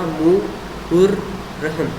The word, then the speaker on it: मुहर्रम: लेकिन अब इसका जो करेक्ट प्रोनाउंसिएशन होगा वो होगा मुहर्रम। तो इसको कंप्लीट बोलोगे मुहर्रम मुहर्रम।